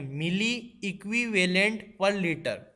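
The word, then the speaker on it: mEq/L: दोस्तों इन यूनिट्स को प्रोनाउंस करना भी अपने आप में एक बात है, इसको ध्यान से सुनिए मैंने कैसे प्रोनाउंस किया, मिली इक्विवेलेंट पर लीटर।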